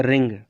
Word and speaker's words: wring: जैसे देखिए यहाँ पर मैंने लिख दिया रिंग, WRING। अब देखो डब्लू के साथ यहाँ पर आर आया है तो डब्लू क्या हो गया, साइलेंट।